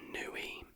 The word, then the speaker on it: Niue: Next is Niue, is how you say it, N-I-U-E.